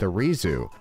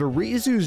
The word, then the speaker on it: Arizu: of Team Galactic, but Arizu's name is actually another hint in itself. Arizu is spelt like the Japanese pronunciation of Ares.